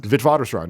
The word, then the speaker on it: Witwatersrand: And is this, if I'm saying it correctly, Witwatersrand? Witwatersrand, yeah.